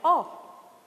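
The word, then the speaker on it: awe: Freedom privilege is Advantage bondage is a state of being a slave and we have o how is it pronounced o feeling of respect either of respect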